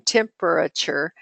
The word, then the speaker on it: temperature: temperature is almost decodable a student just needs to learn that the vowel a and the third syllable in temperature says the schwa sound ah research clearly shows the